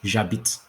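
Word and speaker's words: j'habite: at the same time so i live is jabit the itch is silent obviously you live is two habits he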